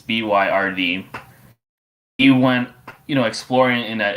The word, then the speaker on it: Byrd: But Admiral Byron, I think I said his name wrong. It's Byrd.